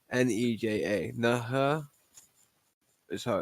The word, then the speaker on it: Nerja: Nerja is how it's pronounced.